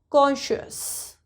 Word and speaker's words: conscious: Yes, C is our special letter that will give us the sound shus. So it will become conscious.